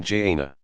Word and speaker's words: Jannah: paradise is called the garden Jannah pronoun Jana a verdant place of